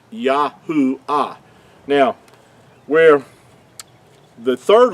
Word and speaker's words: Yahuah: Yahuah being his whole name pronounced out with the four letters instead of the two.